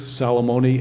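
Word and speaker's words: Salamone: My name is Lewis Salomony.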